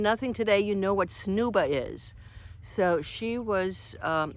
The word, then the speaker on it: Snuba: going to get our snooba lessons okay i did not mispronounce that snooba it's a mix between snorkeling and scuba diving so you've got the